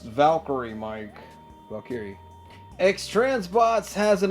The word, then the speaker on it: Valkyrie: It's pronounced Valkyrie, Mike.